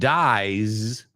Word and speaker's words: dies: See, uh, it's a little bit longer and it ends in the z sound. Right? So, listen again. He who rolls the dice dies. And dies rhymes with rise rhymes with exercise.